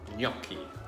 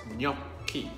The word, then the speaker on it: gnocchi: a great Italian classic yaki spelt GN o c CH I the G in the N is pronounced like the letters N and Y in English coming together yeah yup key and very simple ingredients